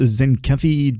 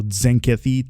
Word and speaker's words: Tzenkethi: And it is pronounced Zenkeathy just like uh Tazar, right? So you have the T and the Zar Tar. So, Zenkeathy Zenkeathy.